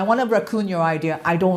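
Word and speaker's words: WRECKON: So my raccoon, our raccoon, it's spelled W R E C K O N. So but it sounds like a raccoon like this like the animal.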